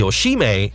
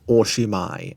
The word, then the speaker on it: oshimai: To this moment, different types of Archaeoceratops have been found, the Oshime and the Yutyrannus. Guys, it's pronounced Oshimai and Yutyrannus.